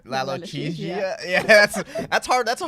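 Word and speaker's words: lalochezia: Lalo L-O-C-H-E. Laloche. Z like zebra. Z. I-A. How do you say it? Lalochesia. Lalochesia.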